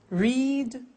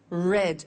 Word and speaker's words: read: make, made, meet, met, read, read. Notice that now read and read are written exactly the same, but the pronunciation changes in the past tense.